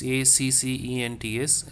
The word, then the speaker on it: accents: The spelling here is ACCENTS. Les accents. So if you just observe, ACCEN is what I pronounce, okay? TNS I am not pronouncing.